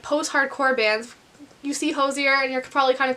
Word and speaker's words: Hozier: say his name correctly because everyone's like, it's Hozier or Hozier, and I'm like, those both sound wrong. So I looked it up before this video. It's Hozier.